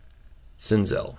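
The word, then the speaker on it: Senzel: a miguel cabrera and a nixon snizz smizel sinzell there you go that's how you say it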